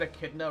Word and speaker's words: echidna: chose a monster named thank god you said echidna right what do you what do you mean how else would i pronounce it how else could it possibly be